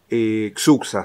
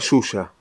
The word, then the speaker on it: Xuxa: en español porque y la pronunciación de la x en español es suxo se leería y acá dice se lee se pronuncia suya para la producción correcta